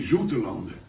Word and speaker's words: Zoutelande: But nobody on the island talks about Zoutelanden, they all say Zoetelanden, because it is our pronunciation in a dialect of the OU is an U.